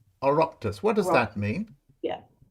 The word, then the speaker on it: Oireachtas: Be it enacted by the, I don't know how to pronounce this, O-I-R-E. Oh, Oireachtas. Oireachtas.